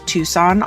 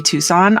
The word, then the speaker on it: Tucson: have, oh my gosh, when I was going to college, anytime I saw a Tucson on the road, I like saw it as a sign.